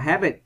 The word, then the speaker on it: habit: Câu D, các bạn đọc là habit. Rồi, vần 1.